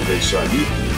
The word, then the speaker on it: Vaishali: he brings the relics to Pidhauli, which is pronounced as Vaishali, And see, these are all photos, photographs of Adharpur.